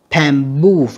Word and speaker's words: bamboo: Bamboo âm 2 nha các bạn.